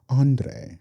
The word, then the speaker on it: Andre: Andre.